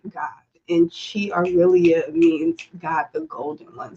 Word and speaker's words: ChiAurelia: My name is ChiAurelia.